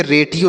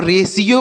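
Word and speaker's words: ratio: रेडियो पढ़ते हैं बच्चों नहीं इसे रेडियो नहीं पढ़ेंगे यह गलत उच्चारण है इसे हम रेशियो पढ़ते हैं यहां पर कोई यस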